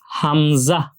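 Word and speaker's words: همزة: আছে যেটা দেখতে এরকম এটাকে আমরা হামজা হামজাহ বলি। খুব ভালোভাবে খেয়াল করতে হবে। হ্যা এই হামজা বর্ণটিও তাড়াতাড়ি পড়তে হয়।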